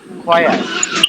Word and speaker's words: choir: আচ্ছা এখানে এটার উচ্চারণ কে পারবা বলো? Soil হবে ছয়ের না soil? choir.